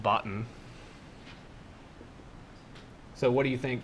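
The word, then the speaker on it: BOTN: So this is pronounced botten.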